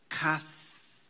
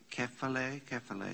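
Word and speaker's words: κεφαλή: Hena pros te kaphele. Kephale, I should say.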